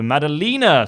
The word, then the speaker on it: Maddalena: thought of it also my last name is spelt with a long e so Maddalena sorry thanking you for